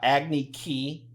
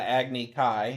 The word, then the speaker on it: Agni Kai: it was a lot acne ki yes instead of Agni Kai uh-huh everything they put